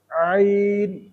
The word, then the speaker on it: ع: আইন, ভিতর থেকে হলকের মধ্যখান থেকে আইন।